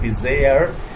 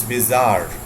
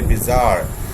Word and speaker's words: bizarre: me because this is not the pronunciation the pronunciation of this word is not bizarre it's bizarre okay bizarre speak with me there in the in your rooms in your homes wherever you are from just say bizarre strange is fine then it comes puzzling puzzling